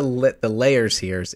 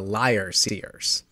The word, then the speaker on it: Liar Seers: So another little Dip note: it's not the layer seers; it's the liar seers.